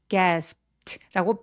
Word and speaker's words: gasped: 여러분 여기 gasped라고 비읍 받침 정도로 처리해 주시고 gasped라고 발음해 주세요.